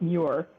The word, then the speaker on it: Muir: here i am again to correct your pronunciation it's mure miua me miura it